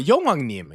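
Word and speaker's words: 용님: Uh, yong nim. Yoim is the Jju pronunciation of Yong Wangim, meaning the dragon king or spirit who rules over the sea.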